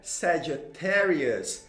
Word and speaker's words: Sagittarius: Gente, a pronúncia correta é Sagittarius, Sagittarius, Sagittarius, Sagittarius, do jeito que você está vendo escrito aí em inglês e de acordo com o alfabeto fonético internacional.